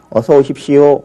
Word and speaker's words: 어서 오십시오: 지금 표기상으로는 오하고 요로 적었지만 앞에 오는 이 모음 때문에 이건 그냥 요로 발음되게 돼 있고요. 어서 오십시오.